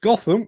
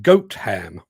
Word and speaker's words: Gotham: the one near Nottingham it's not pronounced Gotham it's pronounced goat ham anybody else fancy a